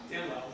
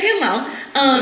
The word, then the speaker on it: Dan Lau: Literally in the notes it says Dan like Ann. I'm sorry, what else would Dan rhyme with? Okay. Oh, and Lau slant rhymes with owl.